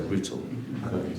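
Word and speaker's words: Rüütel: Rutel. I have this pronounced correct?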